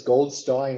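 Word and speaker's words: Goldstine: about in this Herman I don't know whether it's gold Stein or Goldstein I'm around it's pronounced I call it Goldstein anyway he was uh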